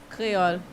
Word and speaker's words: Creole: How do you pronounce Creole the right way? Creole. There you go. Creole. Roll your R's.